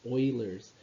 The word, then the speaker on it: Euler: but the pronunciation is oilers kind of like an oil rig euler's number is a